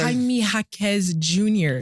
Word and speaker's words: Jaime Jaquez Jr.: No, so the J is silent. Okay. Jaime Jaquez Jr.